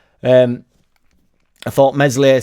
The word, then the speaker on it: Meslier: not um I thought meslier silent s was excellent uh We've